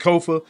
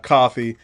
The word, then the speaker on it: Kofa: Once again, I am your humble host, Kofa. Ko FA, not coffee, not, not kofi, or any variation thereof. Kofa rhymes with sofa.